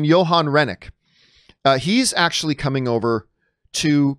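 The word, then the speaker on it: Johan Renck: bringing over the director I believe he pronounced his name Johan Rennick he's actually coming over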